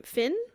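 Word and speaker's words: Fionn: what's your relationship to how do you pronounce his brother's name Finn yeah okay cool it's just like an Irish spelling oh yeah that's right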